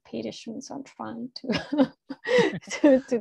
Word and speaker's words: Petterson: It's written Peterson, but apparently they pronounce it Petterson, so I'm trying to to do that.